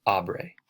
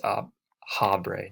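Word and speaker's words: habré: part of the test the h is silent the h's are in spanish so it's aubrey not up ha bray nothing like that and some quick examples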